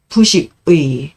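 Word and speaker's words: 復識: 주변의 경관을 불가 부식 부자는 돌아간다는 의미에서는 복이라고 읽지만 다시라는 부사로 할 때는 부라고 읽죠 부식 의에 예 다시 식 이게 식자네 쓴다는 의미에서는 지라고 있지만 그리고 깃발 할 때는 치라고 있지만 안다는 의미가 있어요 그래서 다시 알아보지 못할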